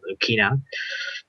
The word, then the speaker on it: Lucina: not entirely sure because her japanese name was rukina so i'm gonna probably pronounce it lukina uh she actually does have a lot of hits at 10.